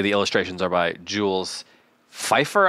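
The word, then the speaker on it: Feiffer: illustrations are by jwes Fifer I think is how you say it f e i FF e r yeah that's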